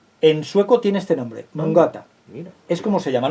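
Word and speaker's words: mångata: Porque esto es una palabra sueca y se lee o se pronuncia mongata, algo así parecido, mongata.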